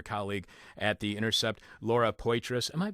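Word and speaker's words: Poitras: at The Intercept Laura pitrus am I pronouncing her last name correctly yes all right uh I thought it was going to be French like Patra you could call her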